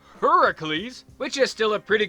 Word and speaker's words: Heracles: the Roman gods so in ancient Greece his name is pronounced Heracles which is still a